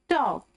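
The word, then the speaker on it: talk: T-A-L के टॉक, L silent है टॉक में, ओके।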